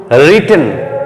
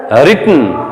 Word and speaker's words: written: Present form right present form, V2 past form রোট, V3 past participle রিটেন, এটার উচ্চারণটা কিন্তু রিটন, WRITTEN, অনেকেই টি একটা দেয় কিন্তু এটা হবে WRITTEN, রিটন।